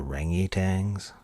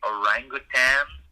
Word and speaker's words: orangutan: of your research primate you mean the rangy tangs yeah so it looks like it's actually orangutan so it seems to be a commonly mispronounced species oh well I was